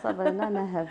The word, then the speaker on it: Sabrina Naheb: C'est bien comme ça qu'on prononce votre nom. Voilà. Sabrina Naheb, tout à fait.